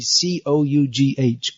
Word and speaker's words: cough: You can't, just like if you see C-O-U-G-H, cough, how do you know it's pronounced cough?